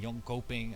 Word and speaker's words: Jönköping: If you want to sit with us at DreamHack Winter, to clarify which DreamHack, DreamHack Winter in Jönköping, I think that's how you pronounce it.